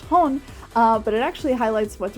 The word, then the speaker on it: HxxG: that this figure is based off of by hon which is how that hxg is actually pronounced it's pronounced hone but it actually highlights what's really interesting about